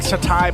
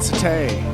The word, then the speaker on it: satay: It's like Satai, but Satay.